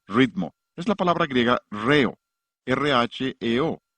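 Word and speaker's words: rheo: Es la palabra griega reo, R-H-E-O. La H es el acento en griego, por eso acentuamos la primera sílaba de la palabra ritmo.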